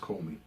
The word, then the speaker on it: Comey: I believe it's pronounced Comey.